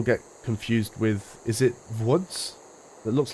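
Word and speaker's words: Łódź: things but I think most people that don't speak Polish or have never heard the place name pronounced just look L Oz and think yeah it's lods you would never think it's woods but there you go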